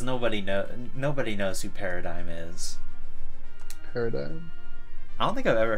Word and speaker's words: PRDGM: It's spelled PRDGM, but it's pronounced paradigm.